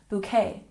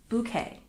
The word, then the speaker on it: bouquet: adopted into English but the pronunciation for us is bouquet it's not B bouquet and we stress the first syllable bouquet bouquet for example I